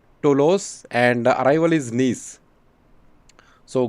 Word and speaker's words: Toulouse: you it is uh to laws so i i was actually i did not know how to pronounce it but now i know uh the name of departure report is tolos and arrival is nice